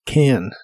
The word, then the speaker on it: can: quieres ser muy Exacto en la pronunciación de can no se pronuncia simplemente como can la a de esta palabra se pronuncia con un sonido que usa inglés que es una combinación del sonido e y el sonido a si lo pronuncias muy lento sonará como kean pero esos dos sonidos vocales se unen cuando hablas más rápido can can una práctica que te